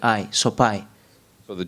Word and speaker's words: Sopaj: so people were confused it's soai in Albania the J uh in the end it's like I soai so the J belongs